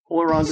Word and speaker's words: Ullr: So, the normal pronunciation is Ullr. The R is quick at the end, and there's a heavy accent on the U.